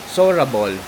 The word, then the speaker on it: Seorabeol: kasi So yun ang proper pronunciation pa lang nitong hotel is sorable.